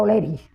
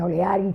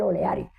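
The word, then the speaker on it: O'Leary: en la escuela oleri que le dicen oleari también porque así se escribe pero la señorita josea nos acostumbró a decirle oleri que era por el general oleri que no era el general oleari sino oleri oleri de las barrios de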